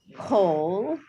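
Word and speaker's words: כל: call a kamatz katan, kamatz that's pronounced like an O. So some of the ones that they have at the bottom are kol, the word kol, which means each or every.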